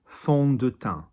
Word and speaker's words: fond de teint: So F-O-N-D, fond, O-N, so on, fond de, D-E, no accent on the E, fond de, teint. Teint, nasal because there's an N there and there's not a consonant, there's not a vowel after the N.